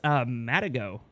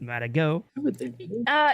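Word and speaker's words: Matagot: and then what is Matt ago is that is that how you pronounce it Matt ago yeah because I think it's a French animal and the T is usually silent he's a mother good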